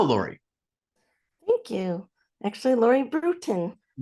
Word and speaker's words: Bruton: the incredible Miss Laurie Braton welcome to the show Lori thank you actually Laurie Brewton brewing a ton of coffee is how I like to explain the pronunciation so okay there we